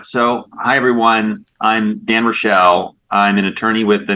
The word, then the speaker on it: Raichel: Dan, and last it's spelled really weird, but it's Rochelle, Okay. like New Rochelle.